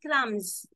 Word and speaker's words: crumbs: silent B is there when you say crumbs B is silent but when you say